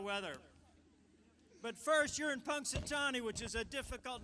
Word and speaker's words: Punxsutawney: serious about the weather but first you're in Punxsutawney which is a difficult name to spell in fact it's so long we can only put Punxsy phil but it's Punxsutawney Phil so let's spell it so you can go